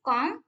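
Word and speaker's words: calm: उसमें एक्चुअल में लिखने में राइटिंग फॉर्म में एल आएगा, लेकिन जब हम प्रोनाउंसिएशन करेंगे तो एल साइलेंट रहेगा. ये साइलेंट वर्ड बोलते हैं, साइलेंट लेटर है.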